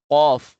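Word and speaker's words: ق: Next ay fa qof. Ito naman ay makapal to no. Qof Qof at yung sumunod sa kanya maiksi.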